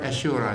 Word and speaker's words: Ashura: The word Ashura is spelled wrong. The H is missing. It should be A-S-H-U-R-A. Ashura. Ashura. It's almost like two H's.